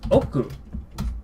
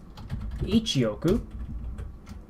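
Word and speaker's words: 億: We have our own terminology, another word for that in oku. Oku. Oku. So this much more complicated looking kanji. Oku, and normally you say ichioku.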